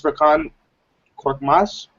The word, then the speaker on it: Furkan Korkmaz: And the last one is Furkan Korkmaz.